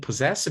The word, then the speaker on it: possessive: And possessive is a great example because it has double S and double S again. The first one is voiceless, the first one is voiced, possess, and the second one is voiceless, possessive, right?